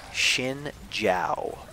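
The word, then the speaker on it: Xin Zhao: will fight this one xin j AO is pronounced chin chow like i'm sorry like that's how it's pronounced and you really can't say much about it it's a Chinese word its Chinese name Xin is shin JH AO is Jiao that's the way you pronounce it so like you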